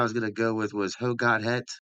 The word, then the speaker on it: hoe gaat het: The only ones I got down was like not got down, but the one I was gonna go with was "Ho got het." hoe gaat het?